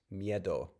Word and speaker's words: miedo: be pronounced okay actually with the sound changes it would be pronounced miedo because Proto mitu uh the U lowered at the end of a of a word the T voiced to D intervocalically and then a short I when stressed broke and so Proto